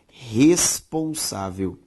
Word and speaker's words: responsável: A sílaba tônica de responsável, sa, é uma palavra paroxítona.